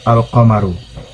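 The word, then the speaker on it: القمر: huruf-huruf qamariah ya jadi Apabila Al bertemu dengan huruf-huruf qamariah maka lemnya tidak melebur ke huruf qamariyah tetapi tetap for example Hai alqamaru yang artinya bulan is pronounced alqamaru jadi alqamaru tetap dibaca alqamaru berbeda dengan Syamsu karena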